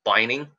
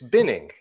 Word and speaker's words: binning: Just by the way, I have a problem with that word sometimes because I pronounce it as bining. Yeah, no, sorry. Because you put it in a bin, not a bine. It's binning.